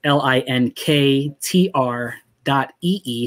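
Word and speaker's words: linktr.ee: spell it out it's l i n k t r dot e e so it's almost like link tree but it's dot e e so link tr dot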